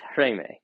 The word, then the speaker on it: Chraime: It's spelled CHRAIME. Sometimes there's an H. Sometimes there's not an H. Um, in any case, I looked up like 3 different videos on how to pronounce this word, and they all pronounce it differently. So I think it's Reme or something along those lines.